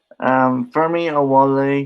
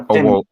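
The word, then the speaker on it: Femi Oluwole: Fermi Awole. If I said that I'm wrong, I'm sorry. No, Femi. Adewola is how you say it.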